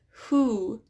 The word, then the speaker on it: who: And then we also have words with the silent W, such as who, whose, whom. Right? It's that W is silent and it's the H sound that we hear.